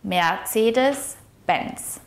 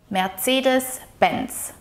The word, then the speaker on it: Mercedes-Benz: When pronouncing Mercedes Benz, the emphasis of the word should be placed on the first syllable of Mercedes and the last syllable of Benz. So it should be pronounced as Mercedes Benz. It is also important to note that the C sound here in Mercedes is more like a harsh TS sound. Tss, tss. Mercedes. Mercedes Benz.